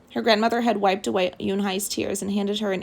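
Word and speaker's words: Unhei: girl asked yunhai said hai uni the girl asked scrunching up her face some kids chanted no no yoon hai corrected it's spelled u-n-h-e-i it's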